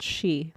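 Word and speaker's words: 四: numerology to predict the future sorry it's called she that's how they pronounce four okay she she so she is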